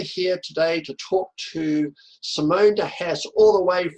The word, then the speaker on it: Simone: And Simone's just going to sit there and listen and smile and you'd say, oh, did I do all of that?